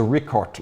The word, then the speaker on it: Richard: langa po marit torban now technically this is the rickart langa if we're going to use the true German pronunciation it is rickart and this is a